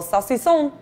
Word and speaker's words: saucisson: just get all like think of like pepe le pew right like you get that little saucy song saucy song mm-hmm yeah you nailed